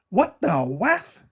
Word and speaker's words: What the Wef: I called the channel What the Wef? That rhymes with What the F.